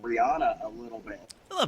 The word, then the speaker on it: Rihanna: Rihanna, not Rihanna. That's how she says it. Rihanna. And there was like a news story from like the Today Show or something where they said like people have been saying her name wrong all these years. I'm like, well, I've been saying it right, but I listened to how she said it because it's her name.